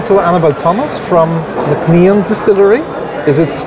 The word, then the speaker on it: Nc'nean: We're talking to Annabel Thomas from the nc'nean Distillery. Is it pronounced correctly now?